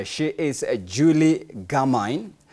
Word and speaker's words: Gamine: On my minute right, she is Julie Gamine. That's how her name is pronounced, not Gamine.